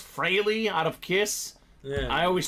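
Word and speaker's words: Frehley: Ace I think it's fry out of Kiss I always struggle with pronunciations of non-athletes Alex I call him the kiss guy yeah I think it's Frey though the way it's pronounced that's right I think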